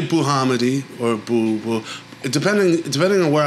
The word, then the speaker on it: Bouhamidi: very good pronunciation yeah yeah how do you pronounce it just the way you said it yeah I say buhamidi or depending depending on where I am actually